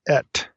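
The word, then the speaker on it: את: comment about our little two particle word it's pronounced ET so it's olav ET so when I say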